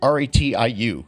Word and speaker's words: Ratiu: I want to say Ratatouille, but it's just Ratiu.